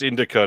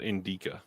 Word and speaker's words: Indica: put the wrong inis it's Indica not Inda I put the wrong I put the emphasis on the wrong look at this Sasha